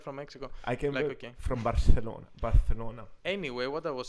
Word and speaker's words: Barcelona: okay what your pronunciation it's like the people that say Barcelona Barcelona if you're not Spanish just say Barcelona it's like saying espresso